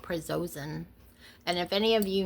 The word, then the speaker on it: prazosin: It's called prazosin.